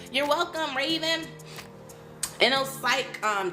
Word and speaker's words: InnoPsych: So Inno, like internet, but Inno, like Inno, I-N-N-O, Psych.